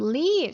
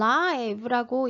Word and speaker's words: live: 그다음 leave 살다 빨간색으로 해 놨는데 그 이유는 live라고 읽게 되면 동사가 아니에요. 형용사가 됩니다.